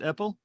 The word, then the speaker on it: Apple: the project is John eppel am I pronouncing it right is it Apple yes John Apple so when did this